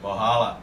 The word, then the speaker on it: Valhalla: Vamos de Valhalla! Como é que se pronuncia? Borrala. Valhalla, Valhalla, Borrala.